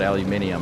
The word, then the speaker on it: aluminium: But the whole, it's like in Britain, they call it aluminium, and I always thought they were just saying it wrong. But no, they actually spell it with an extra I, or in England.